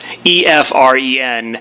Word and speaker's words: Efren: It's EFREN. It sounds just like a friend, but he's a friend.